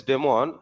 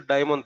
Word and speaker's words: daemon: DAEMON, not DEMON. A is silent. A is silent. Demon. You have to speak with what there? Demon only. But the spelling is what there? DAE. Don't say it is a diamond thread. Demon thread only.